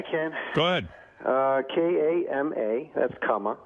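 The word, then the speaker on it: Kama: K-A-M-A, that's comma. Right. Kana is K-A-N-A. Aloha, you know how to spell that, A-L-O-H-A.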